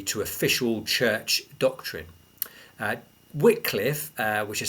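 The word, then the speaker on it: Wycliffe: were uh contrary to official church doctrine uh whitcliffe uh which is spelled Wy CLI ffe wet Cliff was actually supported in this trial by John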